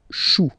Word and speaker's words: choux: Okay, remember, when you combine this C and H, you get the sound sh. Chou, un chou. Pluriel, des choux. Okay.